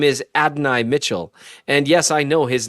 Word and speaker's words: Adonai Mitchell: And in case you're wondering, his name is Adonai Mitchell.